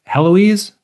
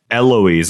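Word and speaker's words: Héloïse: Because there's a ghost of Heloise who keeps appearing. Eloise. I think the H is silent because it's French.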